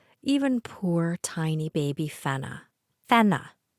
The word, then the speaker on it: Fenna: poor tiny baby fenna fenna not a challenging name to pronounce basic English phonics short e sounds like e short a sounds like ah I do not understand why people hear fenna even with our Canadian accent and say fana no fenna I've never heard anyone